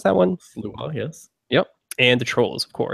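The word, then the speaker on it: Sluagh: different stripes, the Slua, is that how you pronounce that one? Slua, yes.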